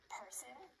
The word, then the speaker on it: person: In the word person, the first syllable is stressed, and the second syllable has a schwa sound. Person.